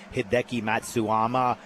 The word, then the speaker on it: Hideki Matsuyama: You got Brandon Wu, Hayden Buckley, Hideki Matsuyama.